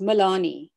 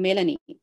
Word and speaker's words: Melanie: africans if you uh my name in south africa and it is pronounced milani in canada i'm melanie if you are if you